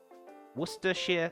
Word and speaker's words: Worcestershire: before I start adding anything else uh and Worcestershire sauce whatever that where I've done for that so if you ever want to know the correct pronunciation for Worcester shear there you go Worcestershire sauce I used to live in Worcestershire I